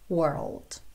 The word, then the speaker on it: world: você praticar essa pronúncia primeiro vai só até o r com aline enroladinho war war depois põe o l lá na sala da boca uou uou e fecha com o the world world ok aí você volta